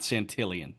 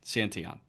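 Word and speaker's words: Santillan: May, Graham Ashcraft, and Tony Santion. Not not Santillian. Santon. I swore I heard the Reds booth call him Tony Santillion. No, Santion. Tony Santion. Tony Santon.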